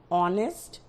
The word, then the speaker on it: honest: That is why kids, whenever we write words like honor, honest, are, although they start with a consonant, but the sound is vowel because the letter H is silent.